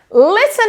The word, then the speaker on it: listen: Lembrando que quando nós temos o T aqui, ó, no listen, eu não pronuncio. Eu não pronuncio. E aqui é uma vogal bem fraquinha, que chama schwa.